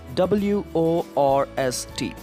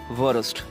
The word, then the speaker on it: worst: Some of us, we pronounce this word as worst, but actual pronunciation is worst. So something like all the W's, you have to pronounce it like V, and here in this particular word, you have to mute R.